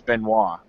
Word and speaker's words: Benoit: It's actually the French pronunciation of it is Benoit.